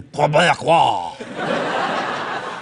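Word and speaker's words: Québécois: There's a few simple tricks that we can perform to make sure that we really have a genuine Quebecois. That's how you pronounce it.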